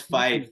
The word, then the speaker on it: Fife: No, it's Fife, but that's close Fife?